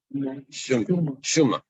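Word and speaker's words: שומא: Suma, as I pronounce it, Shuma or Suma? Shuma.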